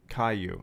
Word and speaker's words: Caillou: Kailu is pronounced Caillou.